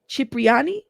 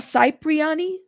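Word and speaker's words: Cipriani: Chi riani chiani chip riani chipriani. Is that how you say that? It's not cypriyani. It's chipriani.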